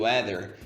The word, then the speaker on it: weather: É um fonema que nós não temos em português, que é a ponta da língua entre os dentes, né?